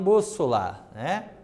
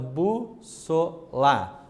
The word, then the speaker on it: bússola: Mesma coisa ocorre em bússola, Então, bússola. Então, no bus é a parte acentuada, assim como em fósforo, a antepenúltima sílaba recebe o acento gráfico, fósforo, beleza?